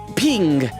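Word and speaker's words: PNG: I forgot that she sings ping. That is the proper way to pronounce a certain file type.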